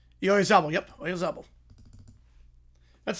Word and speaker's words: Oyarzabal: Yep, Oyarzabal. That's how he says it, at least. That's how he says in the pronunciation guide.